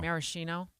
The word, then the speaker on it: maraschino: Maraschino. Maraschino.